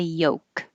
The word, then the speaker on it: yolk: Forget about the L. Just say yolk.